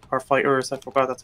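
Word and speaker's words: FighterZ: Sorry for people who are offended, but Because in case I said the game's name wrong, instead of saying Dragon Ball Fighters, I said Dragon Ball Fighter Z because that's how some people are saying it.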